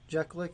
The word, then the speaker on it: Jeklik: Once you get, your 5th High Priestess Jalek, or Jalik, however you pronounce it. Jeklik, there you go.